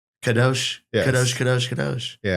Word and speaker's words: Kadosh: Is that pronounce it? That's what I thought. Just like in the book. Kadosh.